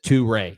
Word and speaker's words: Touré: Martin Dubé saying Touré is pronounced, and he says Touré, not Torre, which I've been saying.